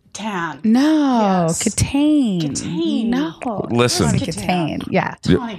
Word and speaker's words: Kitaen: They pronounce it Tawny Catane. Tan. No, yes. Catane.